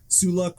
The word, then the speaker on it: Suluk: And the name is super hard to pronounce and everyone kind of pronounces differently, but it's Suluck 46.